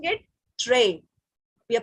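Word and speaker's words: très: But we are pronouncing it tray. We are pronouncing it tray because in French, when S, T or D, they're coming at the last, we don't pronounce them.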